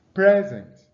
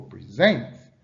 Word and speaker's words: present: Now you see the stress on the first syllable for present, while the stress on the second syllable for present.